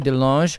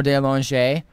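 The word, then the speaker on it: DeLonge: uh actually it's it's delong but that's only because they started mispronouncing it in my family it's supposed to be delange or de la lange oh okay um whatever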